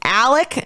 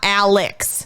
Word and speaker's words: Alex: is Murdoch not murdah the father's name is Alec not Alex like it is spelled but it's spelled with an X it is spelled Alex Murdo it is pronounced Alec Murdoch that's a completely different